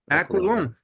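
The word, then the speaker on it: Aquilone: week, we interviewed a wonderful author named James Aquilon. Is that how his name is pronounced? Aquilon, yeah. Aquilon.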